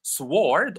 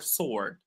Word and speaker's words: sword: Do we say sword or sword? You know what is that?